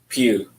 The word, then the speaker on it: Pugh: say your last name pew pew like the church pew there you go and you're born where i was born in chicago and the june of 1976.